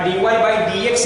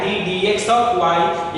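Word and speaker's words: d/dx: यहाँ dy बाई dx नहीं पढ़ते हैं, वो गलत प्रोनाउंसिएशन है जो बिहार में हम लोग यूज कर लेते हैं, लेकिन सही प्रोनाउंसिएशन होता है d dx ऑफ y, यानी डिफरेंशियल कोफिशिएंट ऑफ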